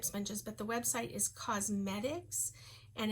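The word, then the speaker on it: Qosmedix: I get them off of a website, but they're called they're called makeup sponges, but the website is Cosmetics, and it's spelled with a Q-O-S-M-E-D-I-X, I believe.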